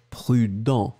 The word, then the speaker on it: prudent: And then the second one, B, is prudent. Dans, dans, dans. Well, you end with this nasal. Final T not pronounced, obviously.